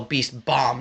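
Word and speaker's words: Tailed Beast Bomb: there's too many moms tell Beast bomb not Mom jackass it sounds like you're saying mom I can't I can't remember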